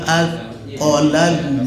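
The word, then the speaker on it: أثقلت: Jadi membacanya kita falamma atqolat da'awallah. Jangan atqolat, jangan.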